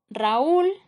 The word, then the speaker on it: Raúl: Siguientes ejemplos: Raúl, esta palabra tiene dos sílabas, la U es una vocal débil, pero como se colocó un acento se convierte en fuerte, por lo tanto se separan y están formando sílabas separadas, es un hiato.